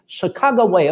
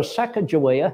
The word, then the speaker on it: Sacagawea: The bird woman, that is the English translation of the Shoshone name, Sacagawea or Sacagawea, however you wish to pronounce it, she was the